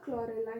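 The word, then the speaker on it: Chlorella: क्लोरेला, हाँ सही है, प्रोनाउंसिएशन इसका क्लोरेला ही होगा।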